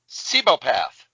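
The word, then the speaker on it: Cibopath: Tony Chu is I can't even pronounce it. Sebopath.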